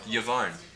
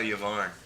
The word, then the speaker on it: Yavarn: Yavarn. So where's that at? Nowhere. Calica what? Kalka Yavarn. Yvonne? How you spell that? Exactly how it sounds.